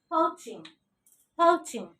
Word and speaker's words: poaching: How to pronounce it? Oh, this is diphthong. Chaw sound, diphthong, ing. Poaching.